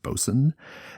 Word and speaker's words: boatswain: ship are called also the word is spelled boatswain but it's pronounced bosun and the word is